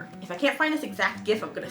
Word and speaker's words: GIF: who insisted it's pronounced Jiff, not Ghiff. He passed in March of this year, 2022. I'm sorry, Steven. You may have made it. You're wrong. It's GIF. Hard G.